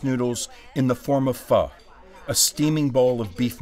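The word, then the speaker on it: Phở: Fu is pronounced like fur with a soft R.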